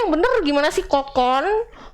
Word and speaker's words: Kokoon: Kokun. Bacanya bener apa sih sebenarnya? Jadi yang benar itu Kukun Hotel Banyuwangi.